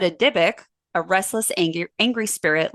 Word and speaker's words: dybbuk: misspellings or pronounciations but for us we're going to be dybb u k and pronouncing it diic because we are neither Jewish and we are not educated I was I was